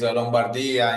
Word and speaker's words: Lombardia: Okay, I'll give you the Italian pronunciation for each. Okay. Please fix mine. Lombardy is Lombardia in Italian.